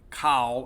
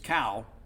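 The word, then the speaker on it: Khal: you know Cal and it's spelled k-h-a-l but it's not Kyle or call it's cow he was their best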